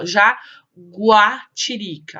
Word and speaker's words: jaguatirica: agora presta atenção em algumas palavras escritas com gel e gui u é pronunciada a gente consegue ouvir o sonzinho do em outras não por exemplo em que pardo eo não é pronunciado olha lá já guache érica gente consegue ouvir já guatirica raul já aguá tiririca agora no guepardo guepardo a gente vai só